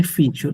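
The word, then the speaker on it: fille: ফি ফ্রেঞ্চে আপনার ভিল বা ভিলা এই ওয়ার্ড গুলো বাদে বাকি যেখানে আপনার ডবল এল পাবেন এবং আগে আই পরে ই পাবেন, ওখানে ডাবল এলটা সাইলেন্ট হয়ে যায় ফ্রেঞ্চে।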